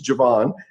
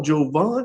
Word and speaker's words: Javon: And so my real name's Javon, but he never pronounced it right. Calls me up and he goes, hell, Jovan, how's it going, son?